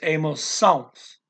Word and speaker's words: emoções: They changed the spelling from AO, the A with a little flag at the top of it, kind of, to OE. Doesn't change the pronunciation. They change the spelling when they add the S, but it goes from on to ons.